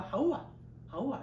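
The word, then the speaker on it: חוה: 자, 이브란 표현은 이제 라틴어 번역에서 조금 음력을 시켜서 이브라 부르고요. 정확한 발음은 하우아 이런 표현입니다.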